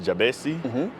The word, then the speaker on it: Jabesi: here's why so uh the the name is pronounced jabesi but then Seoul from podcasts and children and